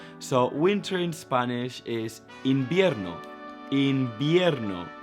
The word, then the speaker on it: invierno: So winter in Spanish is invierno. Invierno. That V is pronounced like a B.